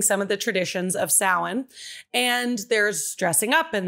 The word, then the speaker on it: Samhain: As Christians slowly started to take over pagan holidays in the year about 600-ish, the Samhain, or Samhain, it's again spelled Samhain, pronounced Samhain.